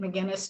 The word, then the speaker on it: McGuinness: and i should say my guinness is spelled in the most difficult way it's like the guinness book of records or guinness stout and put an emcee in front of it so mcguinness